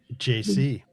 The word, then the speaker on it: Gyesie: So, the African pronunciation is Nana Gyesie. Nana Gyesie. Gyesie. But if you want to Americanize it, Nana Gyesie. So think about JC like Jay-Z, JC. That's it.